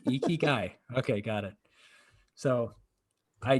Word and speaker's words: ikigai: where's your e ki iki ikigai that is i actually youtubed it how do you pronounce this it's like ikigai okay got it so i don't have like